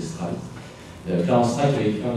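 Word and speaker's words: Streit: C'est un Américain qui s'appelle Clarence Stride, c'était d'origine allemande, je le prononcer Stride.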